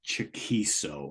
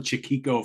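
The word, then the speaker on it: Chaquico: And it's got to be said, the guitarist from this group, Craig Chiquico, I think I think it's pronounced Chiquiso, I think. Because I called him Chiquico for my entire life.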